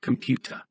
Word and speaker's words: computer: combination of different features experiment now with the word computer say it out loud listen to yourself the second syllable of the three is stressed what are you doing